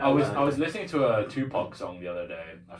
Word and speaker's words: Tupac: I was like, No, but they said Tupac. Tupac. Like 2 packs.